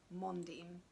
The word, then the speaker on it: Mondim: I googled how to pronounce Mondim, so it's Mondim with a stress on the mon, but I didn't Google any images.